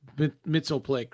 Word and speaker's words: Mxyzptlk: hurt, and you have to outsmart him like Mitzelplick, right, from Superman, or Yeah. Yeah. Oh, that's interesting. So you pronounced it as a word.